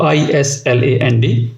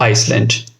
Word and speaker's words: island: The pronunciation of I-S-L-A-N-D should be island, not Iceland.